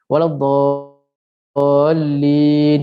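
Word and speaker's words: ولا الضالين: Bukan wajib berdosa, maksudnya cara bacanya ialah 6 harakat, tapi ramai orang baca terbalik, dha pendek, lin panjang, betul tak? Waladdallin, yang paling panjang amin, amin. Terbalik sebenarnya, yang paling panjang ialah dhal, lin pendek sikit, amin tu boleh panjang.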